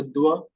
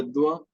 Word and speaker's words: dois: So we say moi, toi, and here it will be dua because it's starting with D.